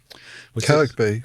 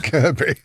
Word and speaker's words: Kirkby: Kirkby she'd tell you was it Kirkby analyst was saying Kirby Kirby Kirby she actually had a go at an analyst saying someone said someone said her name wrong at some event and she went Kirkby.